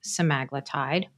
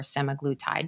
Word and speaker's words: semaglutide: these medications so OIC and wovi are both semaglutide or semaglutide depending on how you pronounce it and then there's uh the medication